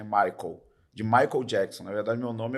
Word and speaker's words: Michael: cara pegou a identidade, Micael. Aí eu falei pra Maíra, né? Falei, tá vendo, amor, que eu sofro? Porque escreve Michael, como se pronuncia, como escreve em inglês, né? Michael.